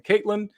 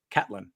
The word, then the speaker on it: Catlin: for uh to john catlin for pronouncing his name wrong i was saying caitlyn because that's how it looks phonetically but it is in fact catelyn john callan's an american who plays on the